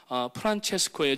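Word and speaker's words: Francesco: 성 프란시스라고 얘기를 하는데 이태리식 발음이나 캐톨릭의 발음은 프란체스코예요.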